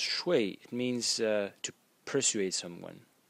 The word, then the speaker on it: 說: shui and sh if if the character is pronounced shui it means to persuade someone persuade the next